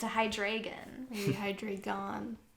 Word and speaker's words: Hydreigon: son and a young adult with a hide hydrogen hydrogen yes hydrogen like hydrogen like you mean a Pokemon hydreigon hydreigon thank you it's a hydreigon bhai drink on how do you say hydrogen